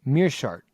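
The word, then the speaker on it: Meerschaert: on gerald uh mercer mirsha i can never say his name mere shard correct thank you it's a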